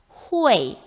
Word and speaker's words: hui: UEI의 가운데 운모를 생략하라고 그랬으니까 생략한 게 맞겠죠. 후웨이 이렇게 읽어야겠죠.